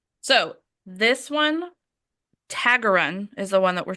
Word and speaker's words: Taggerung: You don't pronounce the G. Taggerung, Tag.